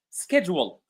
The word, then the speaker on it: schedule: So ch is not always pronounced as ch or ch but sometimes we can find it pronounced as c like school mechanic schedule.